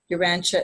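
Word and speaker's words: Urantia: Uranche is spelled U R A N T I A.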